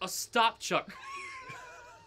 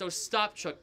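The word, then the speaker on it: Ostapchuk: I'm sorry it's not it's not Zoo it's a stop Chuck we were making fun of his name before before stream before stream we were like oh then I looked it up on the pronunciation guy how to pronounce it it's a stop truk trust me I looked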